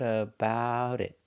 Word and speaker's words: about it: Pronunciation, she thought about it. About it, again, the T in about is between vowels, so it changes to to a fast D.